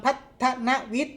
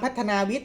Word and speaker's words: พัฒนวิทย์: แน่ นอน นะ ครับ อ่าน ออก เสียง ว่า โรง เรียน ปาม พัฒนวิทย์ นะ ครับ ไม่ ใช่ ปาม พัฒนา วิท นะ ครับ โรง เรียน ปาม